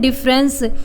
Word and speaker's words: difference: इसकी जो प्रोनाउंसिएशन होती है वो होती है डेफरेंस, और इसकी जो प्रोनाउंसिएशन है वो है डिफरेंस। थोड़ा सा स्पेलिंग में अंतर है। ये हमारा DEF से शुरू होता है और ये DIFF से शुरू होता है।